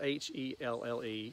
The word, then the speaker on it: Helle: It's spelled H-E-L-L-E, as you see in the title, but I have heard some Scandinavians pronounce it that way, so we're going to pronounce it Helle.